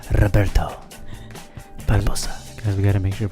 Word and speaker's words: Roberto Barbosa: That's correct pronunciation, is it not? Yes, gotta make sure you roll the R's. Roberto Barbosa.